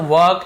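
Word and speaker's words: work: वर्क, ये भी जी वर्क ऐसा बताया वर्क, लेकिन वर्क थोड़ा सा आर साइलेंट रहता है इंग्लिश में, यदि आप थोड़ा सा एडवांस इंग्लिश में तो वर्क ऐसे बोलते हैं, ठीक है।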